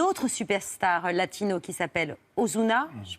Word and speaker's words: Ozuna: La chanson s'appelle Arbo, co-signée avec une autre superstar latino qui s'appelle Ozuna. Je prononce bien.